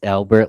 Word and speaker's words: Albert: Albert I have difficulties it's Albert like Albert Einstein oh my goodness Albert